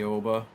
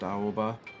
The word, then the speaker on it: Aoba: The Aoba, as I used to pronounce it. I think it's more properly pronounced Aoba.